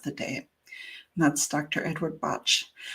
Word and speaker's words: Bach: Edward Botch. I know people say Bach, but it's he pronounced it botch.